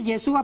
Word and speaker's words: Yeshua: Yeshua. O Yeshua, ¿cómo Estamos se ahí.